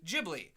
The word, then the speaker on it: Ghibli: I pointed out no if there's an H after the G it's a hard G it's pronounced Ghibli and